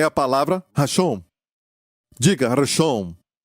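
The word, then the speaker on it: ראשון: O primeiro, seja no tempo, seja no ranking, seja na posição, em qualquer coisa, é a palavra Rashom. Diga Rashom. Reshon quer dizer primeiro. E se escreve assim, em hebraico, da direita para a esquerda: Resh, Aleph, Shin, Vav, Nun.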